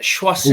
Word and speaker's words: Choisir: I mean, you've got the Christopher horse, Choisir, how do you say that? And it's not a hard one, is it? Choisir.